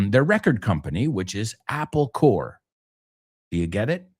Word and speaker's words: Corps: And the word core, cuerpo, right? Like the militar en esto, organization, cuerpo, así, se escribe corpse, pero se pronuncia core.